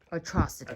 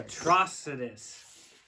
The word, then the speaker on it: Atrocitus: let's pop him open how do you say the abilityfigure's name atrocity atrocitus there we go we're getting better atrocities